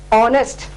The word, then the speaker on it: honest: in importance or the stress is given on O sound, honorable, honest, R, and hotel. So when you utter these words that start with H with a vowel sound, you have to use an before it.